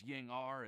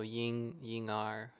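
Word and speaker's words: Ying'er: is right because Ying-ar, it's a Chinese name. And I believe ER in Chinese, it's pronounced like R or something like that, like R, not or ear. It's like R. So Ying-ar.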